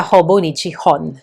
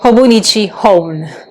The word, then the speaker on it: Hobonichi Hon: from Hobonichi it's the Hobonichi Hon. So the hon in Japanese means book. And I have heard other people say hone like the h o n e I think.